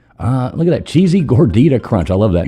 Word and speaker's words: gordita: Gordita. Gorga. G O R G I T A. I'm like, it's not a gorgita. It's a gordita.